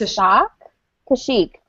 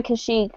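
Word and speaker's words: Kashyyyk: say his planet name it's a shock to Chic there you go I always want to say it like with a different ending for whatever reason so they're gonna go to kashik or she's going to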